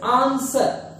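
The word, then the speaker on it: answer: देखिए दोस्तों कि आंसर ये गलत प्रोनाउंस करते हो आप लोग, इसको हम पढ़ते हैं आंसर। क्या पढ़ेंगे? आंसर।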